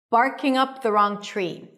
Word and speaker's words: barking up the wrong tree: TR together turn into a ch sound. Tree. Barking up the wrong tree.